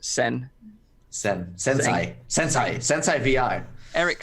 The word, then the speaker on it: Tseng: It's spelled Tseng, but I assume it's pronounced Sen. Sensei VR. Eric Seng, yep.